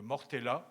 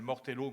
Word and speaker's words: Mortella: de ces fort alors de Mortella qui est la ville corse et qu'on appelle mortello maintenant à cause de la prononciation anglaise en fait c'est caractéristique